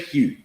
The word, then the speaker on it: hue: Say hue. Go on. Say HU. How does it sound when you pronounce it?